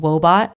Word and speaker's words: Woebot: Wobot is an app, and Wobot is spelled W-O-E, like sadness, and then bot, B-O-T, like robot. Wobot is this super adorable